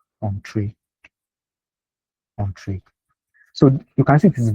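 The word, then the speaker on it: Entrez: So it's not Entree. This Entree is like a French word, and they call it on, like just on. So it's pronounced Entree.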